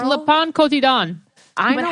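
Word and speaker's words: Le Pain Quotidien: It's Le Pon Cotidon.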